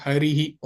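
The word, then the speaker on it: हरिः: नहीं है क्योंकि क्योंकि इसके पीछे विसर्ग है तो इसका उच्चारण ही की तरह होगा।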